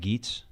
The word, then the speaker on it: Gaetz: Republican Matt Gaetz. Not Gates.